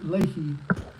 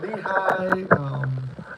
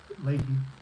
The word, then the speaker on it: Leahy: It's Leahy. But they always say Lehigh. What was it? Lehigh was one they always say, or Lehi. It's like no, it's Leahy.